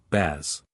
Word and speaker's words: Boaz: firm stable upright the word Boaz is Hebrew baz Hebrew means strong strength power might Refuge source